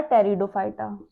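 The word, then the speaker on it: Pteridophyta: And third है हमारा टेरिडोफाइटा। इसमें पी साइलेंट रहेगा। टेरिडोफाइटा। ठीक, इनकी हिंदी में भी नाम थैलोफाइटा, ब्रायोफाइटा, टेरिडोफाइटा यही रहेगा।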